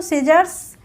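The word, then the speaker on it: scissors: है कैची होती है तो सीजर्स सी के बाद एस के बाद क्या आया सी आया तो यहां पे सी साइलेंट रहेगा सीजर्स सीन एस के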